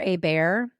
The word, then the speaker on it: Hébert: hear me go oh they say that is how you pronounce their last name which looks like Hebert so my ding-dong brain